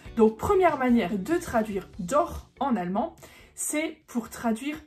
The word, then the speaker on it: doch: non c'est pas ça c'est ce petit mot d'or qui s'écrit d o C H et qui se prononce bien dor et pas